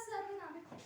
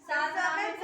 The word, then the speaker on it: सार्वनामिक: Next, उसका सर्वनामिक हाँ ma'am बिल्कुल उत्तर देखते हैं। सार्वनामिक होगा, सर्वनामिक नहीं होता है, सार्वनामिक होता है। ठीक है, उच्चारण सही करो आप लोग।